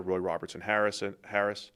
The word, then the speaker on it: Roy Robertson Harris: They have Darius Alexander, Roy Robertson Harris. Always when I say his name, it always flows into Harrison every time I say it out loud, even though I know it's Roy Robertson Harris.